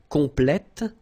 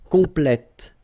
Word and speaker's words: complète: Okay, you're pronouncing the T. Okay? Complet, complète, complètement. Discret, discrète, discrètement. Okay, so one more time. Secret, secrète, secrètement. Complet, complète, complètement.